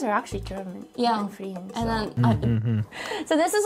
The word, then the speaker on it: Frieren: Frieren. Frieren. Frieren. Not bad, Good R pronunciation. Gotta throw a little phlegm in there.